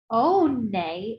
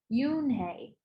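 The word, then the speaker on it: Unhei: your name a girl asked okay said hey oh nay asked the girl ass scrunching her nose oh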